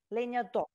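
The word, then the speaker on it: lenhador: Leñador. Yeah? Perfect. I'm good. You know what? With the letter, no, we need to pronounce the last letter, Leñador.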